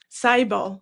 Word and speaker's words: Cybele: Cyel. Cyel. How do I spell that?